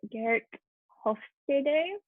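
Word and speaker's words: Geert Hofstede: is the i think his name is pronounced gert hofstede don't quote me on that though but he is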